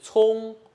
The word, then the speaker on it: 重: 一个 u，所以一定是聪，不要念成聪了哦，绝对不可以哦。